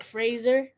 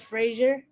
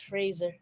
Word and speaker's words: Fraser: hear what I'm saying Fraser instead of Frasier because he's actually been correcting people say say yeah it's not Frasier it's Fraser really yeah he goes